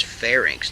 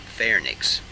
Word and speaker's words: pharynx: squamous non-keratinized conjunctiva pharynx its pharynx not fair nick's physiological epiglottis larynx which